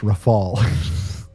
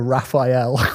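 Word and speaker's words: Rafale: like the French Rafal. The writer left me a pronunciation guide cuz I kept calling it the Raphael, like Raphael Nadal.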